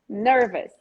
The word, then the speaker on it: nervous: actually take this into any word that ends with the ous this is such a brazilian mistake folks ous is us ous is us o